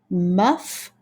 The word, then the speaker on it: muff: Remember, boys and girls, when you see two F's together, we only make one sound of F. We make the first sound of F, and the second F is silent. Muff and rough.